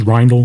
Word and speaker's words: Reyle: I already said that reyle Chris reyle that's how you say his name reyle um he passed